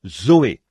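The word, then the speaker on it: ζωή: sert du même mot que l'on prononce Zoé Z o e Zoé la vie et tous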